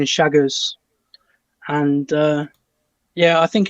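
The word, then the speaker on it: Chagas: pronounced it will spell c-h-a-g-a-s but um obviously pronunciation is shaggers and uh yeah i think in the us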